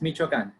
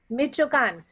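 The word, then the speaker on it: Michoacán: Carlos was born in, you have to help me out here, Carlos, so I pronounce it correctly. It's Michoacan. Michoacan, in Michoacan, Mexico, and he is a first-generation college graduate.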